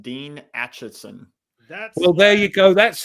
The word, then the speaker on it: Acheson: His name is pronounced Dean Acheson. Well, there you go. That's his fault for having a word that starts with ache and ends in son.